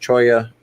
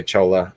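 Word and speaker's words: cholla: idea edy I'll make a collection video soon pronounced Choya by the way yeah and a lot of people say chola but i know that the the plant itself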